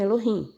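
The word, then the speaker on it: אלהים: eles chamam mem né E aí eles pronunciam assim Elohim Mas enfim el Você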